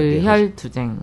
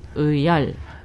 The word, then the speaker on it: 의열: 열렬한 의혈투쟁. 혈이 아니고 열. 의열.